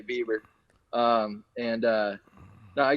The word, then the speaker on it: Bieber: the last name right they used to say biber and now they get it right and say bieber um and uh no